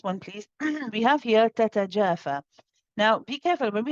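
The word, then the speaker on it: تَتَجَافَىٰ: So you want to say tatajafa, tatajafa. Make sure that the two ta's are given equal timing.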